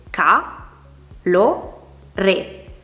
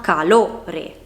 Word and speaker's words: calore: In una parola come calore ci sono tre sillabe, ca, lo, re. Qual è quella che viene pronunciata con più intensità? Lo, perché si pronuncia calore, non calore e neanche calore.